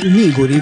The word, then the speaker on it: Niguri: Sì, è Niguri, con l'accento sulla prima I.